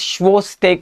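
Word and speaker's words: Chvostek: signs Tru sign and schak sign what is schak sign it starts with C but it's pronounced as schak sign uh tapping over the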